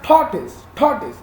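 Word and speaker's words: tortoise: टॉर्टोइज का actual जो pronunciation है टॉर्टोइज।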